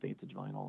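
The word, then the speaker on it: +Vantage Vinyl: So it's plus Vantage Vinyl, but it's pronounced Vantage Vinyl.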